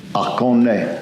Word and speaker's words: Oconee: And what's the correct pronunciation for Oconee? Oconee.